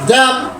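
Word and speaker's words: damn: ডি এ এম এন ড্যাম ড্যাম ড্যাম আবার কন ডি এ এম এন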